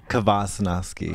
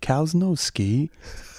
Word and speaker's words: Kvasnosky: I'll tell you, there's an alternate, easier, Gavacho, gringo type pronunciation. Sure, but yeah. To take it there is like cows. Cows, they can't ski. Cows no ski.